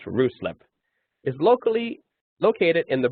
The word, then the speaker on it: Ruislip: Your support detachment in Ruislip, not locally pronounced Ruislip, is locally located in the borough of Hillington, Greater London, within the M25 highway.